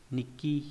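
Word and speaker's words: 日記: Chữ này có âm cương là shiru với trong từ shirushi, shirusu. Shirusu là động từ có nghĩa là viết hoặc là ghi chép. Âm ôn là ki. Là ki, ví dụ trong từ nikki là nhật ký.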